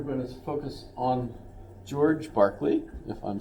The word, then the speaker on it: Berkeley: Barkley but apparently it's in honor of George Barkley he's a philosopher um although and this is